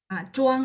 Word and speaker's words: 装: 装 ya, ZH itu bacanya C, cuma lidahnya diangkat. C biasa bahasa Indonesia.